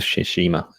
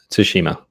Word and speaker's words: Tsushima: it's been it's it's all about ghost of shishima tsushima consuming so probably yes one day we'll see someone pronounce it curriculum but ah that's it we